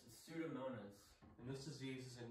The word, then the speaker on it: Pseudomonas: so we pronounce it for me it is pronounced pseudomonas and this disease is a nasty nasty green